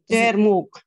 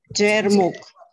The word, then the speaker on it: Jermuk: I know I'm pronouncing it incorrectly. Jermuk. Jermuk.